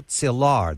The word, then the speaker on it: Szilard: One of the scientists who emigrated who did not enjoy welcome was Leo Szilard, the Hungarian. I hope I say it correctly. That's correct, Szilard.